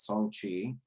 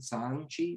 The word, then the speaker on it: Shang-Chi: Shang-Chi, pronounced Shang-Chi, maybe more Shang-Chi.